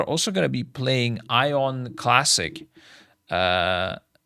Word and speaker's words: Aion: some highend new stuff thing is Aon that could make sense Aon yeah ion is probably the Turkish like German way of pronouncing it ah Aon yeah